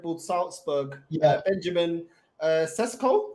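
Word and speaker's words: Šeško: Salzburg yeah Benjamin uh cesco is that how you pronounce Benjamin cesco yeah that's it what'd you make of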